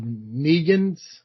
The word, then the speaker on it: Negan: This issue continued telling the story of Negan's. Is that is that how you pronounce it?